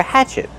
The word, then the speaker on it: hatchet: Use the open a sound like black cat. Hatch. Hatchet. The stress is on the first syllable. And what about the letter T at the end? Use a stop T. Stop the air. Hatchet. Not hatchet, but hatchet.